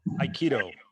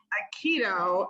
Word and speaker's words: Aikido: Aikido. Aikido, and you have been a full-time live-in student under the Zen master, and I'm gonna let you say their name.